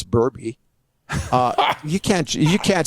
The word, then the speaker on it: Berube: there and you become louis pasaglia or craig berube when it's burby uh you can't you can't stop that well